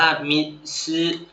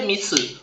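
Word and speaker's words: みず: น้ำ ก่อน นะ อ่า 2 คำ นี้ อ่าน ว่า มี ชือ มิชื่อ ไม่ ใช่ มิสึ นะ ทุก คน ถ้า มิสึ มิสึ เขียน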